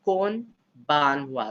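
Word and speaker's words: こんばんは: movie right janae yes the n in kumbawa is not silent but you say kon ban wa so when you say it together it becomes kumbawa and then good night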